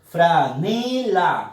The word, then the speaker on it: franela: Franela, fuerza de voz en la sílaba ne.